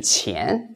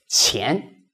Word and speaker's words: 钱: So, lots of learners find the pronunciation 钱 not easy. Let's see, how can I make it easier? So, for this 钱, what you can do is you rewrite it into C-H-E-E-A-N. Now it's easy.